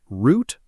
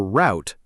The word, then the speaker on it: route: Depending on the region, it can be pronounced root or route. Both are accepted, especially in American English.